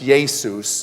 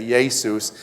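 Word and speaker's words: Ἰησοῦς: name is I teach Greek and stuff it's yay Seuss okay yay Seuss if you're Spanish you would say hey soos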